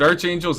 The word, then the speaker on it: archangels: the archangels is it Arch Angels archangels I it's Ark archangels okay yeah it's a silent h silent yeah p h